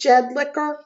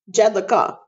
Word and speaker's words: Jedlicka: His name is Seth Jedlicka. Wait. Yes. Yes. No. Yes. Yes. His last name is Jedlicka. Not Er. not. Wait. Not Licker. Is his name Seth Jedlicka or Seth Jedlicka?